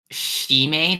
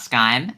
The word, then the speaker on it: Scime: okay I'm getting word it's pronounced shim not Sky my bad my bad